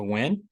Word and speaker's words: Nguyen: Okay, so this is Business 313, Introduction to Entrepreneurship, and I am Dr. Nguyen. The N is silent.